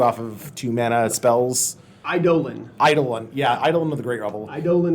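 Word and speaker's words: Eidolon: result is how do you pronounce eidolin it's pronounced idolin I Dolan yeah sure idling idolin yeah um let's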